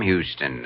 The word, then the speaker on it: Houston: But Houston's a famous Texas name, Sam Houston. Sure, but it's also a famous Lower East Side name, the street where I was born. Except here in New York, you pronounce it Houston.